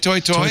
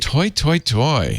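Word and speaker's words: toi toi toi: toy, toy? Toy, toy, toy? Toy, toy, toy is for opera. As you can ask Andy Anatko about that on Mac Break. Toy, toy, toy.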